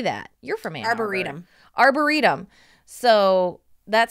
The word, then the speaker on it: arboretum: Arboretum.